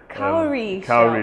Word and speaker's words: cowrie: Curry, so you'll see these shells here, cowrie shells. Cowrie shells, yeah. Okay, we call them, okay. So how do you say it? Cowrie shells. Cowrie, yeah, it was actually a Senegalese man.